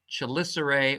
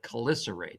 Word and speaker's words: chelicerae: the spider's hands but they're called chelicerae or glycerate depending on how you want to pronounce them and at the end